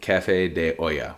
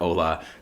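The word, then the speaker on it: Café de Olla: got two bottles of prop and bottle of Cafe De Oya which by the way that is how you pronounce it not Ola not allaha not whatever the hell we call it sorry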